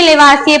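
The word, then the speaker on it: Lavoisier: हिंदी में लेवासिए पढ़ते हैं लेकिन इंग्लिश में लेवासियर होता है, लेकिन पढ़ा नहीं जाता है।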